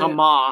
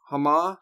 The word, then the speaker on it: Hama: What happened was that there was fierce demonstrations in Hama, Homs, I guess is how you say Hama. it. Hama is how you say that, not Hama. Hama Homs.